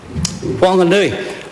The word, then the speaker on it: Whanganui: Speaker, put an H in it or not, I pronounce it still the same. Whanganui, H or no H.